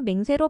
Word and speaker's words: 맹세: 원래는 맹서였으나 발음을 잘못하여 맹세로 바뀌었습니다.